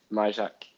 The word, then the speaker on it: Majchrzak: Uh Mjac Mjac is the pronunciation.